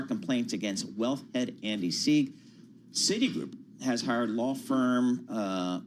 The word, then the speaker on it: Sieg: Am I pronouncing that correctly? Sieg is correct, yeah.